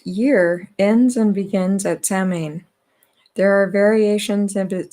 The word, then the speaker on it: Samhain: and this is about salman our sound to rhyme with cow sound uh is the name